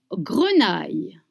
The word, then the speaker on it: grenaille: Confit de canard, pommes, grenaille. Confit de canard, pommes, grenaille. Let's try together. Confit de canard, pommes, grenaille. Grenaille, you have the I sound.